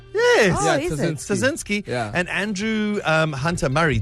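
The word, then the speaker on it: Ptaszynski: And those writers, Dan Schreiber and James Harkin and Anna and Andrew Tazinski. Is it? Yeah, the P is silent. Yes. Oh, is it? Tazinski Yeah.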